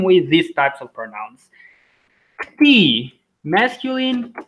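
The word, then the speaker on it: këtij: Kti, masculine, ksai, feminine, or pronunciation, kti, ksai, or just kti, ksai.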